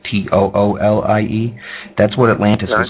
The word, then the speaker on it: Thule: call themselves the Thule, like Thule, but pronounced Toolie.